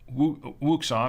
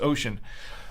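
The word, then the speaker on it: Oshan: and ocean dealers uh what some people call wuxon or wooshin it's it's actually pronounced ocean um but they uh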